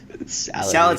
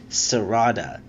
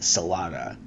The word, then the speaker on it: Sarada: Salad's my favorite character. No, we figured out this mystery. It's not actually Salad. It's Sarada, which can be pronounced Salada, because R's and L's are interchangeable in Japanese, which led me to